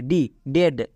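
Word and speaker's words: dead: ব্রেড একই রকম ভাবে ডি ই এ ডি ডেড ই এ এরপরে ডি আছে ই এর পরে ডি থাকলে ই এ এর জন্য একার হই তাই এখানে একার হয়েছে নেক্সট ব্রেথ এখানে দেখো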